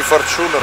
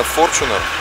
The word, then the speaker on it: Fortuner: Напомню, что ударение на первую букву не Fortuner, не Fortuner, а именно Fortuner.